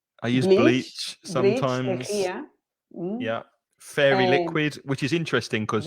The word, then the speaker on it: Fairy: Fairy liquid, which is interesting because in Spanish pronunciation, you say fiery. Fairy. But we say fairy because fairy is other in Spanish.